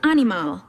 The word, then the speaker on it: animal: You just had to shift the musical stress of your voice to the final syllable.